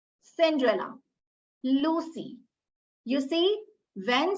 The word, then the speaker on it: Cinderella: This letter C will be pronounced as K when it is followed by letters other than E, I, or Y.